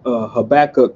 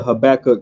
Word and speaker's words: Habakkuk: Habakkuk chapter 2, verses 5 and 6.